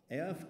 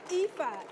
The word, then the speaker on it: Aoife: AF Griffin. Griffin. Aoife.